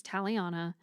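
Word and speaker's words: Talyana: Our female main character, her name is Taliana, and I shorten it to Tally. Um, yes, like a tally mark, but not quite spelled that way.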